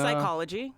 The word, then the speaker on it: psychology: are also ones pneumonia psychology psychotic yep psilocybin keeping it with the drug theme SD these P's also used to be pronounced still are in French and we got it from French originally psychology yeah right and